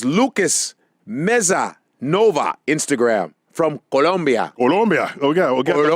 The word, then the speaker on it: Colombia: This is Lucas Meza Nova, Instagram, from Colombia.